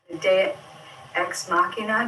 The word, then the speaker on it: ex machina: the miracle of storytelling ex machina the god machine i don't know what that gematria comes to d-e-u-s x-mashina i call it it's pronounced ex machina what a movie is